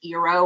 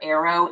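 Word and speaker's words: Aearo: their offshoot was called I think it's pronounced ero or Arrow AE a r o and then they tried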